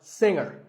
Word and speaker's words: singer: word is pronounced subtle another popular word with a silent letter is singer the G is silent now we say finger we say the G younger again with the G but singer no G and what would you